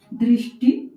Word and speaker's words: दृष्टि: फिर आता है मूर्धन्य श में जीवा को थोड़ा मुड़ाकर जैसे हम ट, ठ का उच्चारण करते हैं, वहीं से इस श